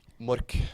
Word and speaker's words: Mork: Mork.